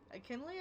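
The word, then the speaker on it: Akinli: Akinley, I think is how you pronounce it.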